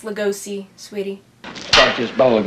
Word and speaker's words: Lugosi: be all those bella legusi moves i saw when i was a kid it's pronounced lugosi sweetie start this bottle